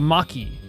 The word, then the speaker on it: Machi: Machi has a hard C on it, so it's Maki, like a... So, Maki. Machi is Maki.